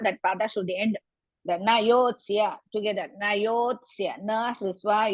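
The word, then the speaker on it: न योत्स्य: Na yotsya together. Na and yotsya together you have to pronounce. Na yotsya iti govindam.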